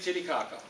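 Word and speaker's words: Titicaca: snickering but we can't get around it Lake titty Kaka it's yeah I know I know come on we're not teenagers that's how it's pronounced it borders Peru and Bolivia it's the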